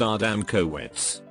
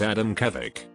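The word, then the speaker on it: Adamkiewicz: the artery of a dam QX most people pronounce it our dam coits a friend was at a conference where they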